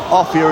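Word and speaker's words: Offiah: well or martin offia or a fire off here is the correct pronunciation but he likes a fire because it rhymes with chariot oh he's missed it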